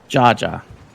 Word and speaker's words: jaja: Jaja. Yeah, but Interesting. they pronounce the J as an H.